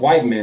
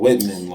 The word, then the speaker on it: Whitman: I used to call it White Man. That's how you spell it. White man. But it's called Whitman.